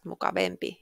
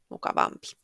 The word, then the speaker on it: mukavampi: mukava mukava mukavampi mukavin It's not mukavempi It's mukavampi and if the adjective